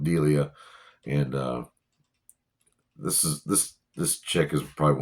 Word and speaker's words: Delia: Catherine O'Hara playing Odelia, or Delia. I'm sorry, I've been saying her name wrong. Delia, and this chick is probably one of my.